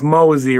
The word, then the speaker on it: Mosy: five good it's it's mosy rhymes with cozy y yeah um mosy and I met him